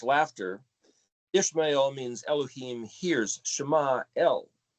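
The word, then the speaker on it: ישמעאל: Shema El is actually what the word is, not Ishmael. That's the English stupid way of pronouncing it.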